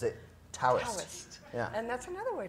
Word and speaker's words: Taoist: that's what you get when you spell something with a t and you want people to pronounce it with a d absolutely those crazy Chinese